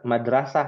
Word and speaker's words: Madrasah: Mi Madrasah Ibtidaiyah cuman bedanya dalam bahasa Arab nggak ada huruf ra adanya ro ya maka dibacanya kita Madrasah kan begitu ya Yang betul Madrasah seperti itu ya tadi